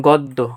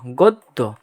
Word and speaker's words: গদ্য: থাকলে ওই বর্ণের দ্বিতীয় উচ্চারণ হবে মানে দুইবার উচ্চারণ হবে যেমন গদ্য গদ্য ঠিক আছে এইতো তোমার একদমই শেষ একটা রুলস চলেই শেষ মার্কারটা নেই কোথায় গেল?